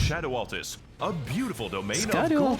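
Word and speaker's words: Scadu Altus: It's pronounced Shadow Altus.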